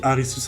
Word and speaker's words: Arisu: Voici Arisus Akayanagi. Elle est handicapée, ce qui l'oblige à rester assise. Merci de votre compréhension. Enfin, Arisu qui est la prononciation japonaise d'Alice, mais tu connais, c'est